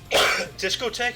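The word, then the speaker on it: discothèque: difficult pick you know oh disco tech is that how you pronounce it well yeah it is yup wow i i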